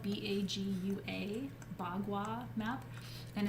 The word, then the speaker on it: bagua: the event page and keely check that out it's spelled b-a-g-u-a bagua map and it's kind of a map